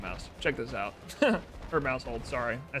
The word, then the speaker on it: Maushold: Or Mouseold.